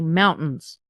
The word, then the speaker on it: mountains: Like, we have beautiful mountains here, but we don't pronounce the T. We say mountains.